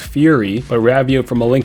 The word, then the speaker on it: Furi: Number 9, Furi. It's probably pronounced Fury, but Ravio from A Link Between Worlds gives you motivational slam poetry between each boss fight.